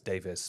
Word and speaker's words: Davies: I've heard Welsh people pronounce Davies, Davis before.